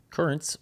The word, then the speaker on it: Curranz: Currents, which is spelled Curranz, is a pre-workout supplement